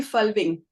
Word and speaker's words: Folving: not sure if you pronounce your last name fing yeah it's it's close to uh to how we pronounce it here in Denmark okay so you say it yes Julie fing fing yeah okay and she is coming to